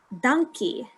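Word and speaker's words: dankie: word for thank you do you want to pronounce that yeah it's a good one thank you so it's donkey donkey this is very useful nah i'm not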